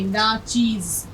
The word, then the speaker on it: ناچیز: اب یہاں آپ کو تلفظ دیکھیے, ناچیز, ناچیز کہتے ہیں بہت حقیر, بہت کم, جو جس کو ہم بہت چھوٹا سمجھتے ہیں, جس کو بہت کم تر سمجھتے ہیں. تو اب دیکھیے یہ ناچیز کا تلفظ آپ کا صحیح ہونا چاہیے, آپ اس کو چیز نہیں پڑھیں گے.